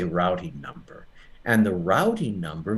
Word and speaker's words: routing: no we don't say rooting we always say routing number it's interesting in American English we have two words we have two pronunciations for the same word root and route but we choose the